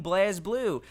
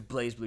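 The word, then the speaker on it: BlazBlue: there's that fighting game blaz blue also people get so pissed and like no it's blaze blue just cuz the E isn't there doesn't mean it's not pronounced that way and I'm like all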